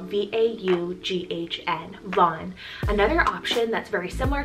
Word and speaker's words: Vaughn: boy and it's the name vaughn spelled v-a-u-g-h-n von another option that's very similar to vaughn we